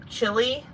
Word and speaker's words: Chili: in leroy not leroy how he pronounced um is spelled chili but it's pronounced chili i'm shy a lot